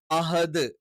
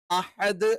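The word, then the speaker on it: أحد: ഉച്ചരിക്കണം കുൽഹുവള്ളാഹു അഹദ് അഹദ് അഹദ് എന്നുള്ളത് പല ആളുകളും അഹദ് ഈ പറയുന്ന ഹ എന്ന് പറയുന്ന അക്ഷരം ഉച്ചരിക്കാൻ കിട്ടാത്തതുകൊണ്ട് ഹ എന്ന് ഉച്ചരിക്കാറുണ്ട് പിന്നെ ചില ആളുകളൊക്കെ കുറച്ച് എക്സ്ട്രീം ഓവർ ആക്കിയിട്ട് അഹദ് എന്നും ഉച്ചരിക്കാറുണ്ട് ഇത് രണ്ടും തെറ്റാണ് അഹദ് എന്ന് പറയുന്നതാണ് ശരിയായ ഉച്ചാരണം ഇത് തൊണ്ടയുടെ താഴ്ഭാഗത്തുനിന്നാണ് ഹ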